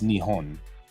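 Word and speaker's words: Nihon: in Japanese of course Japan isn't Japan it's nion right so nion can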